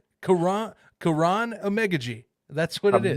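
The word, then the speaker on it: Amegadjie: That is the pronunciation I have from the Athletic. Because Is I don't want to offend the guy if he ever, for some reason, stumbles upon this. I no, don't want to offend him. yeah, unless the Athletic is wrong, that is how you pronounce his name.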